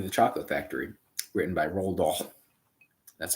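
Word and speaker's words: Roald: or Charlie in the Chocolate Factory written by rol that's how you say his name rol r o a l d space d a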